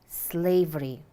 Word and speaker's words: slavery: people are not free listen slavery slavery how many syllables are there yes two which syllable is stressed the first there is a phrase